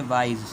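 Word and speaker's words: wise: माने मासूम, वाइज अक्लमंद, वाइज इस जेड की आवाज़ निकालेंगे वाइज, एनॉयड नाराज़, इम्पेशेंट बेसब्रा,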